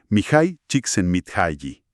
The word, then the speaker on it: Csikszentmihalyi: El libro Flow, o Fluir, una psicología de la felicidad, del famosísimo psicólogo, y a ver si lo pronuncio bien, Mihai Csikszentmihalyi.